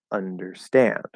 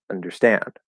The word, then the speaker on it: understand: matters understand understand but there's actually a secondary stress it's actually understand not understand this secondary stress on the first syllable in that particular word um if you don't